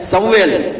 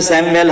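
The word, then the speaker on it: Samuel: शैमुएल Hindi में है वो उर्दू में प्रोनाउंसिएशन है समवेल, इंग्लिश में सैमुएल हम सब जानते हैं।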